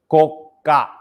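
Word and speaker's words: 硬貨: It's called koka, like your coca noodle, koka coin.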